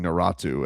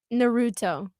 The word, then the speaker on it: Naruto: I cringed so hard with tow mis pronouncing Naratu and I don't even I don't know how to say it. Naruto Naruto I'm sorry.